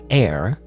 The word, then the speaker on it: heir: He always says that I'm his hair. I want to say hair, it's not hair. You know, the H is silent. I'm his heir, and that I need to know things when I take over, so we went.